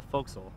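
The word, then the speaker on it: forecastle: now then this is this is called the foxel it's spelled for castle forecast okay for the bow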